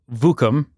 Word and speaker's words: Vookum: We've got Tyler, founder of Vookum. Pronouncing it right?